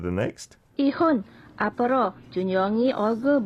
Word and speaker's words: 얼굴: 이혼 앞으로 준영이 얼굴 볼 생각하지 마. Nice. 앞으로. Even though, if I had to correct one pronunciation, when you're pronunciating the 리을 in the 받침, it's more 얼굴, not like 얼굴, 얼굴.